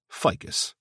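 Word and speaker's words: Phicas: P H I C A S, which was apparently pronounced ficus, like the tree.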